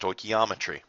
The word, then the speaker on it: stoichiometry: for you Greek for measuring elements uh again pronounced stochiometry but again it's really defined as the calcul